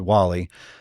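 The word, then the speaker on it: Guale: Uh there was another tribe to our north uh called the Wall-E. It's actually gu, but it's pronounced Wall-E.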